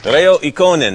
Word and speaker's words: Reijo Ikonen: Reijo Ikonen. I pronounced that correct?